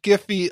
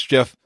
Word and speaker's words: GIF: was later yeah what's funny though yeah slush giffy on oh I said it wrong sighs chippy oh I remember our discussions on this and I was like yep absolutely it's Jeff it's Jeff Rachel its Jeff well I I